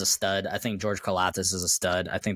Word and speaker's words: Karlaftis: Karlaftis, yeah.